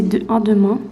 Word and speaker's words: demain: I would say demain. Demain. This is not going to be an e.